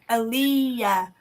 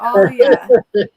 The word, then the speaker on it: Alia: But Barb keeps going, Aliyah, but it's not, it's Alia. So, Alia.